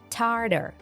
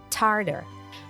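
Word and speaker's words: tartar: attention to the pronunciation the second T is pronounced as D Tarter Tarter what you can come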